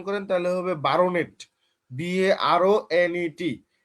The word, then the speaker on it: baronet: সেটা হচ্ছে যে আমাদের BARO, যদি আলাদা করে উচ্চারণ করেন তাহলে হবে বারোনেট, BARONET। তো এখানে ওই যে BARO এভাবে আমরা 12 বলি না, মানে ইংলিশ উচ্চারণটা হচ্ছে বার্নেট, কিন্তু স্পেলিংটা হচ্ছে BARONET।